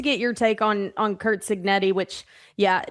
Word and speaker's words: Cignetti: And he affectionately called him Cugnetti one week, and it stuck.